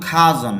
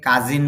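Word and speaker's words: cousin: তবে two preposition ছাড়া does your খাজন যদিও আমরা এটাকে কাজিন বলি তবে ইংলিশ উচ্চারণ হল খাজন ডাজ ইওর খাজন লিভ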